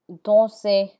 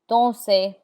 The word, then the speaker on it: danser: There are exceptions to that rule, and the R is not pronounced in words that end in ER. This list of words are mostly verbs like danser, to dance, danser, chanter, chanter. The ER has an A sound like AY, danser, chanter.